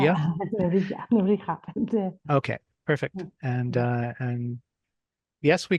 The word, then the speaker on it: Nebrija: Did I pronounce that correctly? Nebrija? Yeah, Nebrija.